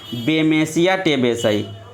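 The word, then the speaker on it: Bemisia tabaci: ठीक है, आप लोग लिख लेंगे टेबेसाई। थोड़ा सा आप सही से लिख लेंगे, कोई दिक्कत नहीं, हम सही बोल रहे हैं, आप उच्चारण को ध्यान पे रखना बस।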